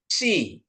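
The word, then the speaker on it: ψι: Terus ada psi, ya, psi, ya. Ini psi. Psi, PS, psi, ya. Pseudo, ya, pseudo. Psikologi, psikologi, ya. Bukan psikologi tapi psikologi. Kayaknya ini harus kedengaran, ya.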